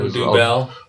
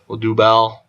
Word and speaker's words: Odubel: Odubel. Yeah, Odubel. Odubel.